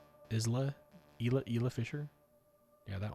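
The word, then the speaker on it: Isla Fisher: Is that how you pronounce her name? Isla.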